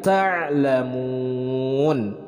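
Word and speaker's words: تعلمون: Kemudian ta'lamun, ta'lamun. Nah, ain disukunkan. Nah, ini yang biasanya bagi para pemula sering kesusahan di dalam pelafalan ain ketika disukunkan. Jadi bacanya yang benar adalah ta'lamun. Mun itu adalah mad arid lisukun, dibacanya panjang.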